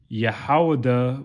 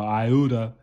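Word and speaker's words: יהודה: said shall be saved yahawada which is how you say judah or ayuda which is the chief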